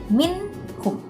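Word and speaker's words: مِنْهُمْ: Cara membacanya harus jelas yaitu min hum.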